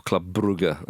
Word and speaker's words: Brugge: Club Brugge, or Club Brugge, as they insist on being pronounced, against Aston Villa tonight.